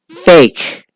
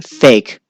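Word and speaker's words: PHEIC: a feat or pronounced fake isn't that interesting public health emergency of international concern is pronounced fake a little tongue-in-cheek there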